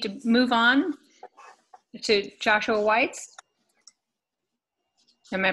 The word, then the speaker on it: Weitz: think we need to move on to Joshua Weitz am i pronouncing your last name correctly you okay here